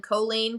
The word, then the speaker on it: Colleen: like our merchandise and it says alley and then choline choline choline choline and on the back it shows you how to like pronounce it and it says like jolene but with c we're very adamant about